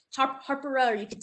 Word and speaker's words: Hapara: maori it's actually pronounced harper there's an r in there that i can never get harper or you could say opera is the actual pronunciation